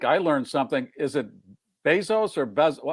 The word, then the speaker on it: Bezos: Is it Bezos or how are you pronouncing his name? Doesn't matter. It doesn't matter. I think I just say Jeff Bezos, but Bezos.